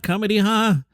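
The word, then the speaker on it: ComediHa!: beverage and some protein kamaha did we settle this somebody told me on the side how to say it kamaha comedy ha those guys the new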